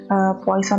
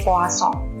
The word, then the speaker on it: Poisson: distribusi poisson Nah jadi beberapa sumber memang menyatakan pelafalan atau penyebutan dari Poison ini berbeda-beda ada yang mengatakan bahwa penguburannya sebagai Poison ada yang menyatakan penyidikannya sebagai doa song ada bebas mengikuti referensi dari manapun entah itu yang menyebutkan sebagai Poison atau menyebutkan sebagai puaso nah sesuai dengan namanya untuk